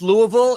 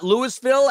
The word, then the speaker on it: Louisville: And yes, it's pronounced Louisville. It's not Lewisville, as Arkansas is not our Kansas.